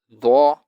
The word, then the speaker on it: ظ: In dho, the tip of the tongue touches the bottom of two top incisors, just like the letter dhal, but dho is thicker.